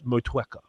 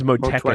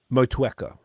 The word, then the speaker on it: Motueka: But it's like you just touch the U a little bit, just dab the U, as opposed to 2-3 times in a row. Motueka.